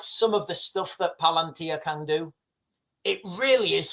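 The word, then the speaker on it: palantír: Um, pal palantia. Do you guys know what palantia means? The palantia. Palantia. It's correct pronunciation.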